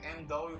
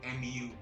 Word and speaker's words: MW: Call it MW, but it's actually MU. The kanji stuff. Yeah, that kanji is pronounced U.